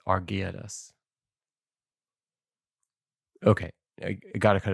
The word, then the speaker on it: Argeades: Argedes? Argades? Argeades. Oh, yeah. A R G E A D A S. Argeades.